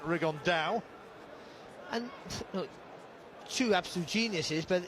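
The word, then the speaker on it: Rigondeaux: today's talked about fighting rig on though or as he's correctly pronounced with the Spanish accent rig on Dow and shoe absolute geniuses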